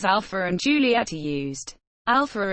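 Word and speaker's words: Alfa: Alpha is spelled with an F as it is in most European languages because the English and French spelling alpha would not be pronounced properly by native speakers of some other languages who may not know that PH should be pronounced as F.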